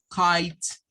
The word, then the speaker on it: kite: se lee como quite se lee como kites significa que tiene un sonido de una k y luego un sonido de una t kite y no suena la e me recuerdense que la e al final de las palabras en inglés es muda no suena Ice bien esta